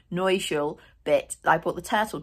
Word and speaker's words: Neue Schule: And I was going to talk to you about the Neue Schule. I've just worked out how to say it correctly. I've been calling it Neue Schule all my life. Neue Schule bit.